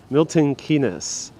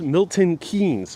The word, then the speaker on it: Milton Keynes: for letting us know the name just kate milton kenis might be mispronouncing that okay thank you so much for